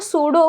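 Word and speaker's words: pseudo: बट अगर आपके अभी इंग्लिश के टीचर है उनको पक्का पूछना कि ये जो सूडो होता है उसमें पी साइलेंट काहे होता है?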